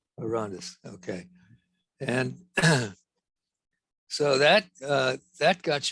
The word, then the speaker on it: Orontes: And how do you pronounce it? Orontes. Orontes.